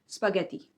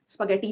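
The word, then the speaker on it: spaghetti: ये एक Italian dish का नाम है। तो उनके हिसाब से स्पगेती ट नहीं होता त होता है। स्पगेती नहीं होता। स्पगेती एंड आज का जो लास्ट वर्ड है वो है योगर्ट।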